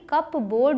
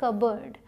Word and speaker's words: cupboard: ठीक है, अगला है CUPBOARD, जो देखने में लग रहा है कि कप बोर्ड बोलते होंगे इसको, लेकिन इसे बोला जाता है कबर्ड। सिंपल सा है कबर्ड, P यहाँ पे साइलेंट है, दरवाज़ों वाली अलमारी।